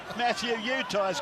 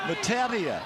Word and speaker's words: Matautia: And we found another pronunciation for the Matautia brothers as well. Matthew Utah's gone again. Matautia.